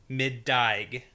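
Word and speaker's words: middæg: It's from Old English, and I'm going to try to pronounce this, middaig. And it's spelled M-I-D-D-A-E with the A and E squished together. Oh, yeah. G. Okay.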